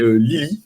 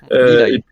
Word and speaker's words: Lilaï: Tour de passe-passe, on aura Jacques Lebeau, Nikit et Lily, si je prononce bien. Lilaï. Lilaï, voilà, l'accent. Et puissance mentale, on aura Alchemy, Isabella, ou Isabelle, je sais plus.